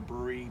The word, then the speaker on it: Bruery: brewery this is the brewery i don't mean it as brewery as like a typical brewery but it's spelled b-r-u-e-r-y the guy that owns